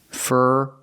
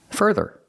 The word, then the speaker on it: further: and pronunciation of further we use the IR sound like Burger it's a closed sound with our R Burger fur further so both syllables have the same sound further further put the stress on the first syllable so if your idea